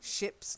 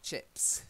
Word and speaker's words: ships: case it's shapes ships ships not chips okay yeah yeah ships